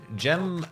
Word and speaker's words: Gemli: Gemli. Gem-Li. Oh, they gave me, you can pronounce it Gem-Li.